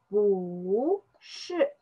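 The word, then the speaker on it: 不是: We just pronounce this bu shi.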